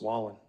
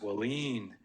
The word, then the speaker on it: Wallin: And, if you look at his name, it kind of looks like it's pronounced Wallin. So I'm like, okay, Jake Wallin, how do you say that? He goes, no, it's Wallin. He said, just like that, and everybody laughs.